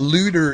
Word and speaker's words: Luder: Yeah, and folks should know that Looter is spelled L-U-D-E-R. It's not like looter, like someone who steals during a riot.